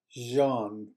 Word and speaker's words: jan: Itali Italian P old the letter J um this like the middle sound in the word measure so it is Jan pain for example so